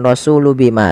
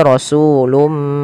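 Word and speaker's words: رسولٌ بما: Jadi sehingga ini bacanya bukan rasulu bima tapi rasulum.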